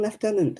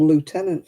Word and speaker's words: lieutenant: a i don't know it's always been lieutenant in in the in the uk yeah but um now it's become lieutenant for some strange reason i don't know why